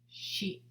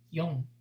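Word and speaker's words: 四: Shi, shi. Or number 4 can also be pronounced as yon, yon.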